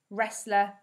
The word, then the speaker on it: wrestler: A W becomes a silent letter if it comes before the letter R in a word. So that means we can't hear the letter W when we say the word.